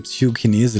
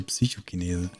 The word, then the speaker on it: Psychokinese: Mit deiner Aussprache von Chinese, immer wenn ich die Attacke Psychokinese lese, habe ich durch dich den Psychokinesen im Kopfkino. Es heißt aber Psychokinese. Da habe ich noch nie dran gedacht, der Psychokinese.